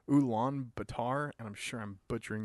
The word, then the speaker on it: Ulaanbaatar: the only golf course in a place called Ulaanbaatar, and I'm sure I'm butchering that name.